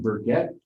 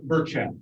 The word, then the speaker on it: Burchett: And Mr., how do you say your last name, Burkett? I'm Burchett. Burchett? Yes.